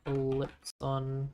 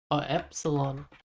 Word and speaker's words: epsilon: Ellipson? Epsilon. Jesus. I am been saying it wrong so many times now. Epsilon.